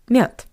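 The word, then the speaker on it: мёд: By the way, have you noticed that the voiced consonant D at the end of this word also sounds like the paired voiceless consonant t? Not m but mute mute.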